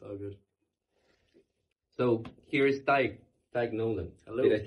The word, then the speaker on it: Tadhg: So when I first got to know you, I was like, how the fuck would I pronounce that name? Oh, it's simple. It's Tadhg.